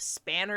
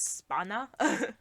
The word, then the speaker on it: Spanner: the first episode where we know how to actually pronounce his name instead of spanner it's spana it no I think